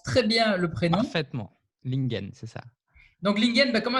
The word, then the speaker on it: Ling-en: Il s'appelle Lingen. Alors, j'espère que je prononce très bien le prénom. Parfaitement. Lingen, c'est ça.